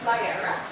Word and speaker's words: Liara: Who also has a mermaid name called Mermaid Liara. Yes, exactly.